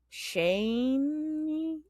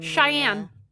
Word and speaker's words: Cheyenne: know that Margot's mother Shane how do you say it? I don't even know. It's like Shane Cheyenne. Cheyenne. That's not how it's spelled.